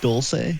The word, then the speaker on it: Dulce: How do you pronounce that? Is that Dulce? Dulce, yep.